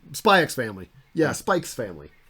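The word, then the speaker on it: Spy×Family: Yeah, Spike's family. The X is part of the name. You have to pronounce it.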